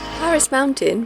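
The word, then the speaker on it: Parys Mountain: second hidden gem paris mountain pronounced like the french capital on the island of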